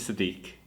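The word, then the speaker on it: Siddiqullah: name so essentially my first name which is sadik and my middle name are together and it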